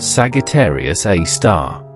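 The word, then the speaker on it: Sagittarius A*: At the very core of the Milky Way, lurks a super massive black hole known as Sagittarius Asterisk, pronounced Sagittarius A star.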